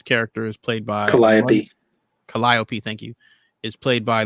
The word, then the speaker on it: Calliope: Calliope, thank you.